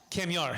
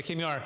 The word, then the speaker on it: Kamyar: Make sure you pronounce it for us real fast. Yeah. Yes. Kamyar, yeah, Kamyar.